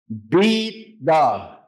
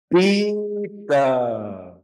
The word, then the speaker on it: pita: No, it's pronounced ba. Remember, the P is a ba sound. Pita.